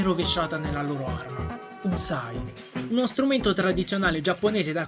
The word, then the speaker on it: psi: 23esima lettera dell'alfabeto greco, per gli anglofoni pronunciata proprio Sai, ovvero l'acronimo di Skeld